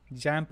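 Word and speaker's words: XAMPP: क्या स्पेलिंग क्या है एक्स ए एम पपी जमप बोलते हैं इसको ए ए एम एक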